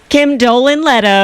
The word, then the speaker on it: Kim Dolan Leto: And Kim Dolan Leto, I said her name wrong. Kim Dolan Leto.